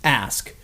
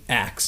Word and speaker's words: ask: a cultural thing because phonetically the s is in front of the k it's always been spelled that way it should be pronounced ask but culturally acts is the more common